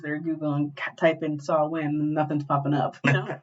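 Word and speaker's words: Samhain: I I don't really I like talking about Sam Hayne I like I I'm gonna continuously say sam hay even though it's pronounced saw win well just easier to roll off off the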